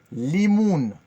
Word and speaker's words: limoun: Limoun. Limoun. Ça, vous devez vous rappeler, tout ce qui est citron, orange et tout en anglais, c'est limon. L-I-M-O-N. Limon. Après, on dit limoun, jusqu'on fait O-U. Limoun.